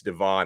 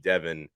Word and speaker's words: Devon: And by the way, I think I've been mispronouncing his name for months. I think it's Devon. I've been calling him Devin.